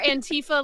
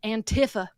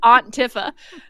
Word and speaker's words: Antifa: He's the leader of this Antifa group. She pronounced it like Aunt Tifa.